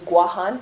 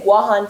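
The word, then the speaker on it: Guåhan: yes it's the Mis actually Guam is a mispronunciation of the indigenous name of those islands which is guahan can everybody say guahan together Guan Guan yes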